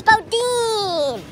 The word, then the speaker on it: Boudin: yummy one last thing how do you pronounce Bodin Bodin bod Bodin thank you Bodin it's Bodin Bodacious breakfast at bod